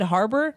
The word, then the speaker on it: Harbour: You said Harper, and that's why I was so confused. Sorry. You're like Said that David wrong. Harper, and I'm like, who is that? I don't Pronounced even it know wrong. who that is. It's David with a B. Harbour.